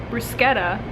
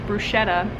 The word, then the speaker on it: bruschetta: let's go over today's nutrition mission main points bruschetta commonly mispronounced as bruschetta is a dish from italy that resembles deconstructed